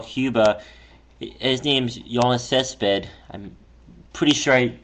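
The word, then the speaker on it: Yoenis Céspedes: His name's Yiannis Cesped. I'm pretty sure I pronounced Yeah, you got it right.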